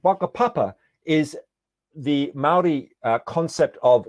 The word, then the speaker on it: Whakapapa: example there's the Maori concept of a Papa which spelt with a WH at the beginning and waka Papa is the Maori concept